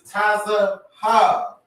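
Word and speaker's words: צהוב: We don't have the V in the Hebrew, but the answer is Taza Ha. This is how you say yellow.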